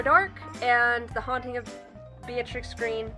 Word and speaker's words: Beatrix: and The Haunting of Beatrix Green. I always want to say her name Bellatrix. That's just like what immediately comes to my brain whenever I think Beatrix, just out of habit, I guess, because of Harry Potter.